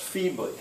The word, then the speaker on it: feebly: i work on that two syllables the first one stressed feebly all right what's your